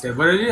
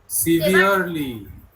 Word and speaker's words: severely: সেভারেলি আছে না? সেভারেলি তো নয়। Severely. সিভিয়ারলি।